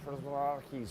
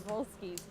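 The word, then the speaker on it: Przewalski: Well, that's easy to read because that is the Prozraki's horse, and that's Absolutely. actually how you say it in the native tongue. So So that is the Przeworski's horse that exactly we how have I here said as it.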